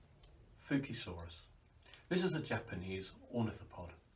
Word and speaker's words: Fukuisaurus: node from Japan from Honshu Island Fuki Soros pronounced fukrey Soros it was only relatively small for this type